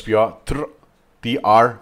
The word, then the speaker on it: Piotr: the audio, you will know what I mean Piotr Wozniak. Piotr Wozniak, Piotr Wozniak. Most of the time I say "Pioter" I'm adding schwa, a sneaky schwa there because "pioTR" and no vowel I don't know if does